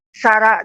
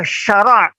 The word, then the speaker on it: syarak: Tapi syarak. Sarak tu di dalam bahasa Minang berpisah. Syar. Sarak wak lain ni. Syariat. Berpisah wak lain. Padahal syarak.